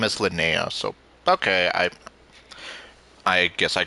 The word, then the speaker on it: Linnea: I've been pronouncing her name as Linnea, so okay, I guess I got it right then.